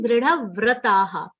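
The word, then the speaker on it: दृढव्रताः: And okay, one more thing, dridha vrataha. Here, va is half, r sound is complete. Do not say it like vru. Vra, vra. A matra should come with r, ram kara.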